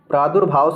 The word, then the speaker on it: प्रादुर्भाव: डी भी गलत है आप शुद्ध उच्चारण कीजिए प्रा दुर भाव जो रा है व रेफ वाला रा होगा इसलिए ऑप्शन ए सही